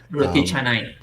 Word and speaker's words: roti canai: But I remember fried breads, probably roti canai, Roti canai. roti canai. There we go. I Yeah. got the real Mhm.